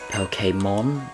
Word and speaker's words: Pokémon: So like Jose um poke pokemon. It's so uh that's the reason I feel like that's the way it actually should be pronounced. Not pokemon. Pokemon.